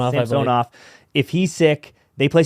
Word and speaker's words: Samsonov: Samsonov.